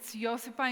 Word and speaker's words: Josipa: It's Josipa in Croatian, but everyone calls me Josipa? Jos. Everyone calls me Jos, who's not outside of Croatia.